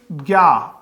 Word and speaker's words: ज्ञ: ये जो है इसका उच्चारण जय भी हम करते हैं, जय, क्योंकि जय और ये से मिलकर बनता है। लेकिन अब तो केंद्रीय हिंदी निदेशालय ने मान लिया कि इसका उच्चारण ज्ञ किया जाए।